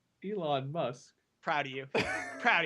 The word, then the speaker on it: Elon: Please tell me how you pronounce Elon fan cuz I definitely said Elon Musk, right? Ellen, right? Elon Degenerous. I said Ellen, didn't I? You said Ellen. Elon.